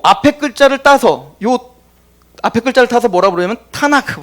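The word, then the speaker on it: Tanakh: 그래서 요 앞에 글자를 따서 뭐라 부르냐면 타나크 불러요. 타나크. 이게 원래 지금도 유대인들은 구약이라고 부르지 않고 타낙이라고 불러요. 타낙.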